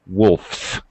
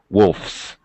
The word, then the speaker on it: wolfs: with an f sound no vibration it's voiceless so I have to pronounce the S as an S wolfes not Z wolfes there were but if